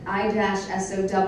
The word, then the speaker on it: ISAO: And it said I-SOW, and then it said like the female pig.